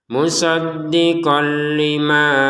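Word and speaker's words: مُصَدِّقًا: Musaddiqah perhatikan barusan kita bacanya musaddiqah 2 harokat. Kenapa dibaca 2 harokat? Karena kita berhenti ya. Kalau kita tidak berhenti di sini langsung menggabungkan kepada istilahnya maka ini terbacanya musaddiqon lalu dimasukin ke lam terbacanya musaddiqol ya. Musaddiqo kalau berhenti. Kalau mau digabungkan musaddiqon ya kembali menjadi musaddiqon ketemu sama lam di sini maka kita harus memasukkan tanwinnya qaf kepada lam sehingga terbacanya musaddiqol ya. Musaddiqon menjadi musaddiqol.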